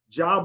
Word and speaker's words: Job: job j o b they say the names different but it's pronoun it's spelled exactly the same job of course is the